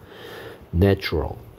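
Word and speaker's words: natural: 그 다음에 자연이 보입니다 명사 네이처 a의 발음이 이렇게 a가 된다는 점 잘 알아두시고요 네이처 자연 자 형용사형 형용사형은 자연의 천년의 a의 발음이 a 발음됩니다 발음기호는 요렇게 생겼습니다 내추럴 자연적인 발음이 달라집니다 그 다음에 동업자 파트너 파트너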